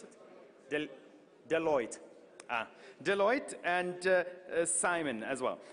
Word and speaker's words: Deloitte: del Eliot and Delhi on how do you pronounce it del Deloitte Deloitte and Simon as well and then partners